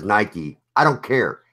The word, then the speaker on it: Nike: Nike is not pronounced like Mike. I pronounce it like Nike. Everybody else says Nike.